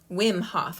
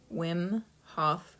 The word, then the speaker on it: Wim Hof: backwards but this is the win winhoff method wim hof i i i was saying it right i always thought i was saying it wrong wim w i am hof method wim hof method it's amazing so he's got a guided